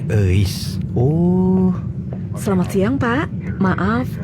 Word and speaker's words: Euis: Itu tuh nama Sunda, bro, dibacanya Eis.